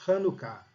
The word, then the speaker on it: Hanukkah: Se escreve Chanukah, mas a pronúncia é Hanukkah.